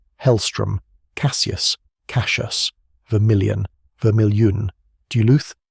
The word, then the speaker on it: Duluth: Duluth, Doo-looth.